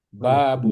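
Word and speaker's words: باب: Babun. Babun. Babun. Babun. Bnya panjang ya. Babun ya.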